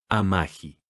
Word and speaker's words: Amagi: Y se pronuncia Amahi.